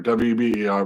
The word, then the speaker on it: Weber: But to counter Marx, right, the early sociology theory was another German thinker by the name of Max Weber, spelled like Weber, W-E-B-E-R, but pronounced Weber.